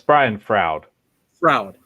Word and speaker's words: Brian Froud: I'm not pronouncing that right, am I? It's Brian Froud.